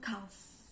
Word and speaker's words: cough: In addition, there are also some words that are not written in F, but it pronounces as it sounds. For example, laugh, tertawa, laugh. It has no F in it, but we produce the word laugh with labiodental as laugh. And also cough, batuk, cough.